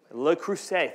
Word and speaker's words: Le Creuset: It's a Le Creuset.